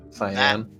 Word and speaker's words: cyan: it's actually Cyan. cyan. Yes, thank you. That's the I've always mispronounced that color, but yes, it's a very light Close to turquoise.